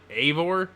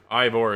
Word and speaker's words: Eivor: So I've heard a couple different pronunciations of this. I heard Eivor as I watched one of the developers say Eivor himself. Okay. So, and then I've heard Ivor as well.